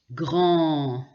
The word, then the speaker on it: grand: Par exemple, mange, grand, Jean, lent. Vous voyez que souvent on ne prononce pas la dernière lettre.